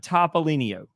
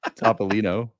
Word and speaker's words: Topolino: The Fiat Topolino. Did I get it right? You added an IO at the end of it. It's Topolino. Okay, fine.